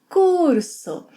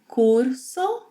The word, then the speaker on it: curso: However, whenever R is at the end of a syllable or at the end of a word, it may be r, a tap, it may be or h. So this word here may be pronounced as curso, curso, curso, curso, or curso, curso. It varies from speaker to speaker.